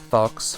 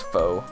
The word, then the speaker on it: faux: Fox, faux. Why is it spelled like that then? Meaning false, it's French. It's faux.